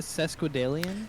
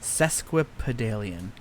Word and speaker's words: Sesquipedalian: So, how do you say it? Sesquipedalian? Sesquipedalian. It's that P and it's a pedale in the middle that gets me.